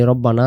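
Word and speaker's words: رَبَّنَا: রব্বানা লাকালহামদ। আমরা কি বলি? রাব্বানা। রাব্বানা যদি বলি উচ্চারণটা র অক্ষরটা রা হয়। আরবি অক্ষরের র অক্ষরের সহি শুদ্ধ উচ্চারণ র জবর র হবে না।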